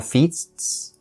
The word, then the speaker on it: feasts: So when native speakers are saying this word and they're saying it fast, both S's are still pronounced. Feasts, feasts. If you end up dropping one of the S's, it's really noticeable.